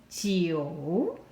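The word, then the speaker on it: 九: now let's look at geo number nine a third tone going down and going up geo geo in the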